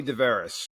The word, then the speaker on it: DeVeres: of a guest, DeVeres. correct me if I said the last name wrong again. I'm sorry. No, you're right. It's DeVeres, but Okay.